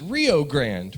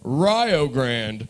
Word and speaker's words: Rio Grande: uh it's actually called rio grande because get this ryo rhymes with ohio that's the only reason